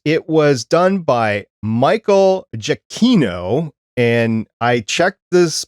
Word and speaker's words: Giacchino: It was done by Michael Giacchino, and I checked this pronunciation, so please, if I'm wrong, let me know what it is.